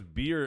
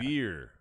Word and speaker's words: Veer: I thought it was beer and Shanky. Well, it's with Veer and Shanky. Yeah. Veer. Yeah. Veer and Shanky. Beer with a V, like victory. Veer.